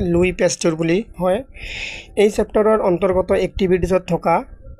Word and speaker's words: Louis Pasteur: পেস্ট গুলি উচ্চারণ করি এটা লুইস পেস্ট না হয় লুই পেস্ট গুলি হয় এই চ্যাপ্টার অন্তর্গত একটিভিটি